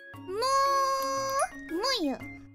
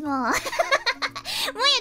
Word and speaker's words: Muu Muyu: My name is Muu Muyu.